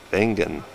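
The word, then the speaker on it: Wengen: This is Vengen, W-E-N-G-E-N, pronounced Vengen.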